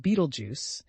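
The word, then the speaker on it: Betelgeuse: Which constellation contains Battle Juice, a red super giant? Orion, pronounced Beetlejuice, it's Orion's brightest star.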